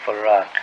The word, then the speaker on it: Fard: Well, that would be the pronounce in English, but uh we in the Arabic it's far yes we're not